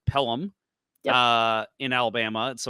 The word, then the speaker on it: Pelham: So you have to travel to, I believe it's pronounced Pelham, in Alabama.